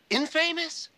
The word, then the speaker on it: infamous: Mexico wow the infamous infamous I love this clip because they keep pronouncing the word Infamous the word is Infamous and they say it